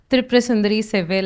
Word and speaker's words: Thirupurasundari Sevvel: And before I go to what is in the slide, she introduced my name and she pronounced it correctly. That's not always how it happens. Thirupurasundari Sevvel is my name, and I'm basically from Chennai.